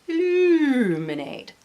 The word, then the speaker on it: Illuminate: It's now an Andrea Mowry Illuminate, pronounced Illuminate, like the Seinfeld voice.